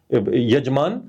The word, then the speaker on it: यजमान: अब भाषा में अगर आप देखो कि संस्कृत में य को ज बोला जाता है। यजमान यजमान यज यजमान यज यज हां यज हां तो यजमान यजमान य को प्रोनाउंस वैदिक संस्कृत में यजमान किया जाता है।